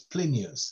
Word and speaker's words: Plinius: How do you spell it? Yes, P-L-I-N-I-U-V. It's not a U, it's a V-S. So it's Plinius, like the historian who Pliny narrated the eruption of the volcano and the collapse of...